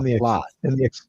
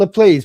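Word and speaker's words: LaPlace: P L A C E, but it's actually pronounced plot. Yes. Not called the place, people.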